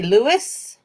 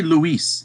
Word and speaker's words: Luis: You say Louis? I say Luis. It's like the Luis. traditional. Yeah, it's Luis, but some people say Louis or Louis.